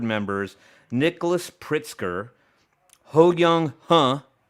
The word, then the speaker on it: Huh: So the allegations were leveled against Altria and Juul board members Nicholas Pritzker, Ho Young Huh, legit, his last name is spelled H-U-H.